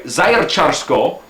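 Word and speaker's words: Zaječarsko: Anyway, Zajercarsko is how you say it, Zajercarsko.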